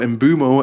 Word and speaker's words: Mbeumo: He's been a standout player, and him and Mbeumo, or Mbeumo as people are telling me is pronounced, they've both been players who have shouldered a lot of the responsibility for their respective teams.